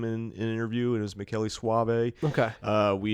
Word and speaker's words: Michele Soavi: void podcast it was directed by the great Meli Suave who who Jim has assured me uh he